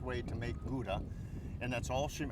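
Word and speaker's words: Gouda: correct way to make guda and that's all she how do you pronounce it in Holland Koda kod and and and I love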